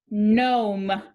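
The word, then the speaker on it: gnome: this digraph gn again the g is silent and the vowel pattern is o consonant e this time don't pronounce the g this word is nom nom moving on to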